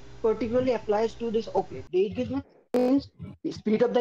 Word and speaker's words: Zeitgeist: I found out that they want to pronounce it as Zeitgeist, not the Z but the S.